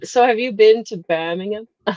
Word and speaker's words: Birmingham: No, you're saying it American again. It's Birmingham. It's Birmingham. Birmingham.